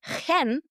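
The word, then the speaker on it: חן: I'm talking about grace, which in the Hebrew word, it's pronounced chen, meaning acceptance and goodwill, regardless of whether we've earned it.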